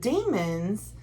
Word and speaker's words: Daimon: So the demons, which is spelled Daimon, the demons feed off